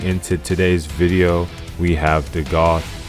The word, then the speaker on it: Dagath: today's video we have The Goth rhymes with seag goth probably dealing or relating